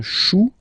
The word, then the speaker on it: chou: Then, un chou, okay, remember, when you combine this C and H, you get the sound sh. Chou, un chou, pluriel, des choux.